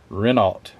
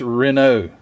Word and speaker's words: Renault: I'm an American and that's how I would pronounce it re or renal renal alt you ought not do that Matthew